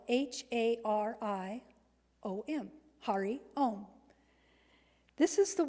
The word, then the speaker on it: Hari om: the Mahari om when I say it it is spelled h a r i o m Hari om this is the one that came